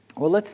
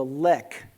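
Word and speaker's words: lek: let's take a species right here in which nobody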